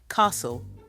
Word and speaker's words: castle: this together one first underline the silent letters in these words knowledge castle and receip did you get them the silent k t and P they're all hiding in there to now write down